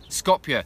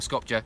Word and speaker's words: Skopje: Skopje, apparently, is how you say it, not Skopje.